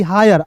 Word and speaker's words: hire: जैसे देखोगे यहाँ पे एफ आई आर ई फायर, एच आई आर ई हायर, आयर जोड़ रहे हैं ना, फिर देखिए वायर टायर सब में आय जोड़ रहे हैं।